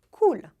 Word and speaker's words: cool: O L é pronunciado de uma maneira bem clara em francês. Olha só. Cool. Na ponta da língua, ela encosta lá no céu da boca.